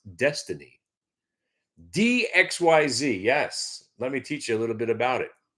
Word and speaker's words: DXYZ: DXYZ, pronounced destiny.